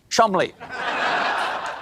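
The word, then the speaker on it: Cholmondeley: me the maress of Chand what a beautiful name that I'm being told right now that I pronounce incorrectly it is in fact pronounced Chum Counterpoint no it's not English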